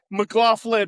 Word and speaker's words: McLaughlin: Okay, McLaughlin with an F.